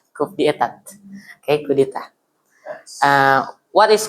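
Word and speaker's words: coup d'état: It pronounced coup d'etat, coup d'etat.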